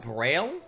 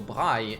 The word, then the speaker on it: Braille: So Braille is how that language is pronounced in French.